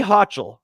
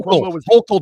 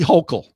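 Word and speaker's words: Hochul: Kathy Hatchel. Okay. and and Quobo Andrew Cuomo back when um Kathy Hutchel was lieutenant governor and Andrew Hokll Jack. You gotta say it like a New Yorker. Kathy Hokll Oh well it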